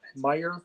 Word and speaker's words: Meijer: guys in chicago do you guys have myers down there meyer m-e-i-j-e-r the j is silent i went to a